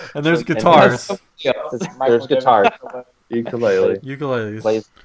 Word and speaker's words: ukulele: Ukulele. ukuleles. Plays It's pronounced ukulele if you want to be official. ukulele. If you go to Hawaii, that's how they pronounce it.